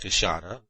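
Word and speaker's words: queixada: the big white-lipped peccary the kashata which is pronounced kushana of the brazilians which would make our collection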